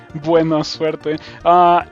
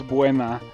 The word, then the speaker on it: buena: is gonna be better buenos the the proper way to say that is buena um yeah like that um buenos is like a plural like um i